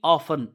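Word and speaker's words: often: frequently REET REET frequently ऑफन ओ एफ टी ई एन ऑफन टी इसमें silent पढ़ते हैं तो ही फ्रीक्वेंटली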